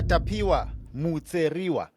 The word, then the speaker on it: Tapiwa Mutseriwa: Pastor Tapiwa Mutseriwa. Did I say it correctly? That's correct. You said it like a Shona from Murambinda.